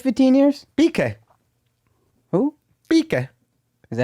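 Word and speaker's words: Piqué: Pique.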